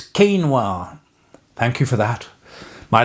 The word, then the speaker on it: quinoa: Yesterday, somebody's only comment about my meditation and prayer video was you spelled you you didn't pronounce quinoa right. It's not quinawa, it's quinoa.